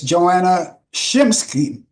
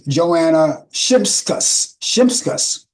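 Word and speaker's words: Joanna Shimkus: And on this day in 1976, actor Sidney Poitier weds actress Joanna Shimsky. I'll pronounce that again. That's Joanna Shimskus.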